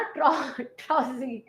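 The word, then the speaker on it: trousseau: ट्रोई ट्रोई नहीं करना, ट्रॉजी।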